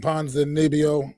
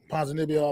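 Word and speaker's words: Ponzinibbio: knockout uh still I'm probably gonna pronounce his name wrong ponds and nebio panzanibio I believe is how he pronounce it that's perfect he's a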